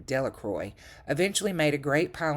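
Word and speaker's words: Delacroix: Bobby and Henry Jones and Dicky Delroy, the villagers pronounced his name, Delacroy, eventually made a great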